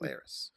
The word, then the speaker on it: Kylaris: Which one is it pronounced? Laris. Laris. Kylaris.